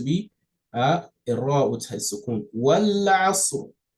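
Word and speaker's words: والعصر: Wal asr. Wal asr. You see, I pronounce the ra, kind of shorten the sound of the ra, meaning I give it a sukun.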